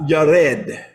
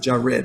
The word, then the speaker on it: Yared: Okay, it tells you, and Mahalalel lived 65 years, and he begot Yared. Yared. Okay, you may pronounce it Jared, but there's no J's.